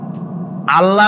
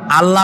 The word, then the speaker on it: আল্লাহ: কি গুণাবলীতে বিশ্বাস আল্লাহর নাম আল্লাহ বলেন তো আল্লাহ নয় কিন্তু আল্লাহ হচ্ছে অশুদ্ধ শুদ্ধ হচ্ছে আল্লাহ বলার সময় মুখটা